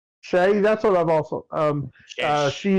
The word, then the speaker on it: Sheh: Sheh. S-H-E. Stephanie Shea? Shay, that's what I've also.